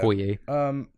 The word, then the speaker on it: Okoye: Yeah, Okoye made me feel things. Okoye? Okoye. Okoye, is that how you say it? Yeah. Okoye.